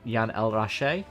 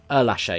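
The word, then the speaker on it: Ehrlacher: these other races like I keep forgetting how to pronounce his name, Jan El Rache, the WTCR driver, who I was pronouncing wrong until I watched the race, and I've probably been pronouncing wrong here as well. But, Lache, yeah.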